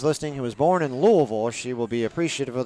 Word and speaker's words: Louisville: who was born in louisville she will be appreciative of the fact that i pronounced it correctly it's louisville not louisville for anyone listening out there it's not louisville it's louisville if i get nothing right